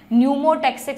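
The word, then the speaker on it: pneumotaxic: P से start होती है स्पेलिंग, न्यूमोटैक्सिक सेंटर, है ना।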